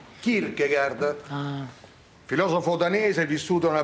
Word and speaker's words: Kierkegaard: Che si pronuncia? Kierkegaard. Kierkegaard.